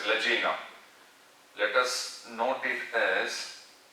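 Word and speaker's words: lagena: Now here, this pointed tip will be known as ladina, or it is pronounced as lagina.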